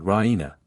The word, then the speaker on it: Raina: of good news Raina she pronounces it Rena with the stress on the E Raina she goes to